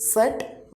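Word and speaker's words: Zett: we are calling it, in German language we will call it set. Pronunciation will be S. Identity is set, pronunciation will be S, like half the, half S. Or we can say pronunciation will be like this, T and S.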